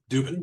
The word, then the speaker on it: Dubin: Steve Duben. Dubin.